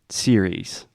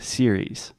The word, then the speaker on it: series: the end and again this is just the e sound at the end there is no s not C I hear a lot of different variations of that series series say it with